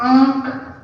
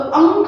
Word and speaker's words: आंख: फिर आंख, आंख, आंख, आंख, आंख, अंक नहीं है। देखो यहाँ पर हम लोग लिखते हैं तो अंक हो जाता, अंक, अंक। तो इसका उच्चारण हम नाक से करें, अंक, अंक। देखो नाक और गला दोनों का यूज होगा।